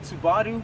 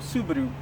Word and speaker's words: Subaru: Whether you pronounce it Subaru or Subaru, one thing comes to mind when you think of the Japanese manufacturer: performance.